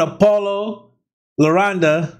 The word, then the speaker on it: Paulo Londra: listen it don't matter y'all put me on apollo laronda that's how you say his name um y'all